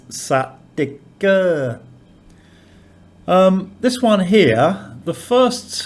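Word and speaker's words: สติกเกอร์: So it might be sticker in English, but the Thai pronunciation with that implied vowel is satika.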